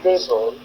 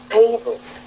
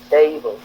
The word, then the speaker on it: table: Donc, quand vous prononcez ce mot, table, lorsque vous dites table, vous avez accentué feuille et vous n'avez pas accentué T.